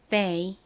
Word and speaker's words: they: 이중자음 TH는 the 혹은 th 소리가 나는데 이 단어에서는 더 부드러운 the 소리로 쓰였어요. 그리고 이 y는 a 소리 나니까 연결하면 they가 되죠.